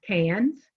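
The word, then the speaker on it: Cairns: around the office because it's pronounced cans doesn't look like that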